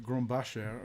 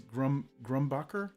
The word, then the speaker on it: Grumbacher: and realized that apparently me growing up in Canada influenced me wanting to pronounce it as like Grombacher or something like that, whereas the pronunciation is Grumbacher, I think.